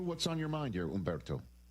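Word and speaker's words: Humberto: Is the H silent in your first name or did I pronounce it correctly? Uh, it's mainly uh Latin. It's like Ombberto.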